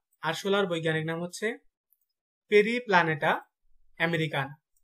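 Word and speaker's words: Periplaneta americana: আরশোলার বৈজ্ঞানিক নাম হচ্ছে পেরিপ্লানেটা আমেরিকানা, পেরিপ্লানেটা আমেরিকানা।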